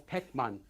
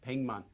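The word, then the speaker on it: 백만: is a hundred so written as pekman pronounced as ping mon and then how many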